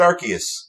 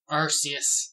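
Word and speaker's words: Arceus: whole lot um and I don't like people who pronounce it archus because they don't want to be like oh you're kind of saying but in in English arus yeah hey no dude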